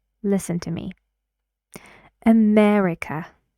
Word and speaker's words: America: name listen to me America America four syllables right right where does the stress go America yes it's true so you need to say this with that long loud vowel which is e America this is